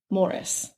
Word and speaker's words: Maurice: watched and listened to they pronounce it maurice however his wife lorraine in the documentary i watched pronounced it morris so i feel like